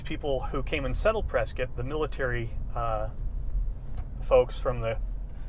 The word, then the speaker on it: Prescott: Prescott. Prescott. Okay, that's what I thought. Like biscuit.